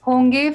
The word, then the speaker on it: honge: Hoga means singular masculine, hogi singular feminine, honge for plural masculine, and hongi for plural feminine. Concentrate on the pronunciation. Honge. There is the sound. Honge and hongi to denote plural.